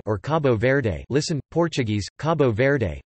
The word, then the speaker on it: Cabo Verde: Cape Verde listen or Cabo Verde listen Portuguese Cabo Verde pronounced kibou bed officially the Republic of Cabo Verde